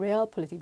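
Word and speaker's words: Realpolitik: 레알 폴리틱. 레알이야 진짜 레알. 영어 리얼은 독일어로는 레얼이라고 발음하나 봐요.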